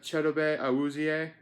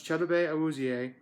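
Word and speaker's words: Chidobe Awuzie: defense we got the Marcus Lawrence we got cheddar Bay i was EA i actually know how to pronounce that name i took the time to learn how to pronounce cheddar Bay i was EA so should you and honestly the heart and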